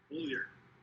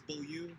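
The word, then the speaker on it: Beaulieu: Bullier. I think it's Bulliu. He says Bullier, so I guess it's user's choice.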